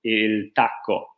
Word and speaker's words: il tacco: Okay, so this is how you say it. It's exactly the same we call it in Italy. Il Tacco.